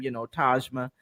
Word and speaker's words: Tahjma: just love your name, Tahjma. And of course, she said, it's like Taj Mahal.